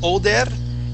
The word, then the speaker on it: older: So you said older and rolled that R.